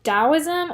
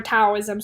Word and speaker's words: Taoism: Now we're going to contrast this with another Chinese philosophy that you've probably heard of called Taoism, or Taoism spelled with a D or a T.